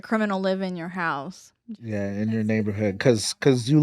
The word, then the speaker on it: Ye: Is it not Ye?